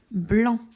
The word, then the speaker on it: blanc: On a d'autres exemples avec le mot blanc. Blanc, la lettre muette, ça va être le C.